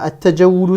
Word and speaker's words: التجول: Là, at-tajawulu, c'est un mot dont la première lettre, le ta, est une lettre solaire. Donc, en cas de liaison, je ne prononce pas le alif lam.